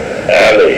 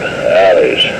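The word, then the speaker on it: Ali'i: And so after a good deal of confusion, we were placed in a brand new facility called the Alley, I think, spelled A-L-I''I. I would have pronounced it Alleys.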